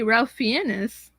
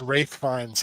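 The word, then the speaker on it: Ralph Fiennes: just so adorable but actor better not be Ralph fenis it's R fines that's how it's pronounced actually oh ra Ralph fines a rith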